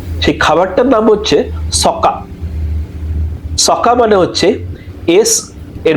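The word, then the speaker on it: socca: সকা মানে হচ্ছে এস এর বানানটা হচ্ছে এস ও সি এ সকা।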